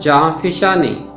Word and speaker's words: جاں فشانی: کا مطلب ہے کھیلنا۔ اس لفظ کا تلفظ ہے جاں فشانی۔ جاں فشانی کا مطلب